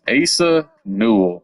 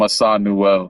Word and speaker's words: Asa Newell: It's Asa Newell. That's You know what? I might still call him Assad Newell Trey Johnson and Asa